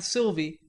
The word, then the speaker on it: Sylvia: We revelled in the fact that Davy and Aunt Sylvia, pronounced Aunt Sylvie, a light brown lad